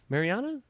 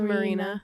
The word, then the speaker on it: Marina: Mariana or Marina? Oh, I thought I it was think it's Marina. Is it? It's spelled like Marina. Oh, then it is. I've just always said Mariana.